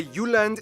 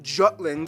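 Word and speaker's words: Jylland: so here we go Denmark is made of the you land not Jutland the peninsula that connects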